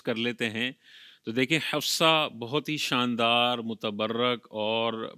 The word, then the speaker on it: حفصہ: اوقات غلطی کرتے ہیں، اصل تلفظ ہے حفصہ، صاد ہے، لیکن وہ پڑھتے حفصہ حفصہ کر رہے ہوتے ہیں، سین پڑھ رہے ہوتے ہیں، تو یہ تلفظ میں بعض اوقات غلطی ہو جاتی ہے۔ اس کا تلفظ وہی رکھنا چاہیے جو حقیقت میں اس لفظ کا تلفظ ہے۔ صاد کے ساتھ پڑھنا ہے، سین کے ساتھ پڑھنا یہ غلط ہوگا، تو اس چیز کا